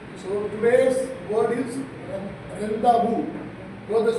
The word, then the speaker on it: rendezvous: Pronunciation, O is not pronounced, it's pronunciation. So today's word is rendavu. Though the spelling is very weird, RENDEZVOUS. You will tempted to read as rendezvous, but it is pronounced as rendavu.